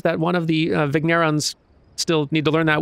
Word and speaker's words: vigneron: of i guess i should just choose a pronunciation and go with it for now let's see vignerons sounds dumb hang on i'm looking it up